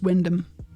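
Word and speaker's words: Wymondham: really quick right it's Windom yeah Windom Windom so you just completely ignore all the bit between the W and the N it's just doesn't matter it's Windom thank you Maya that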